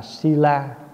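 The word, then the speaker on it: śīla: Giới tiếng Phạn đọc là sila, mình âm là thi la.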